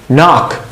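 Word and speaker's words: knock: ওকে, এখানে দেখেন কেটা সাইলেন্ট। মনে রাখবেন কে এন যদি কখনো হয়, কে এর পর এন, তাহলে কেটা 99% অফ দ্য টাইম ওইটা সাইলেন্ট থাকে, বুঝছেন? সো নক, নি, নাইফ, নো, সবগুলোতে কে সাইলেন্ট।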